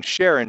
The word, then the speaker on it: Charon: Some people pronounce it Charon, some Charon, doesn't matter.